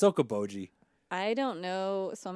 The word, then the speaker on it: Okoboji: Is it pronounced Okoboji? It is. Yeah, it's Okoboji.